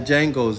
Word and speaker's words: Django: of another consonant and made that consonant silent, the one in the front. Like Django's name, or Django's name, right? Y'all remember that scene where he said, I think he said the D is silent, right?